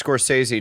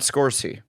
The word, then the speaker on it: Scorsese: that's how you say it's Scorsese not scorsi no it's not squishy